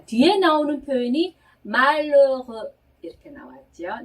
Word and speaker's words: malheureux: 네, 뒤에 나오는 이 는 앞에 나온 발음보다도 훨씬 더 입을 작게 벌리는 오에서 에 발음하는 거예요. 그래서 천천히 발음을 해보자면 malheureux 이렇게 발음하는 겁니다. 네, malheureux 네, 이러는 거죠.